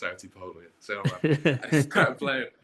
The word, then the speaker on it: Artsipolo: We're Arty Polo. A R T SI P O L O because it's commonly misspelled. I've heard and mispronounced. And mispronounced. I've heard art Apollo artifo artist polo.